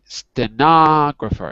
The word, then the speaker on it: stenographer: stenographer stenographer so this the stenographer is on the second syllable stenographer that's right so a